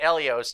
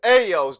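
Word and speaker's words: Elio's: Pronounce it Elios too. That's important. Nah, it's Ayos, dog. Ayos. You know, like when in Spanish people how they say it, it's like Ayos, Ayos pizza.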